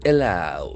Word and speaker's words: allow: To allow, here we have one more word, A-L-L-O-W. Here we can find one more time that evo sound.